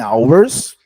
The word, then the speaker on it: hours: Opening hours, você não pronuncia o H com som de casa.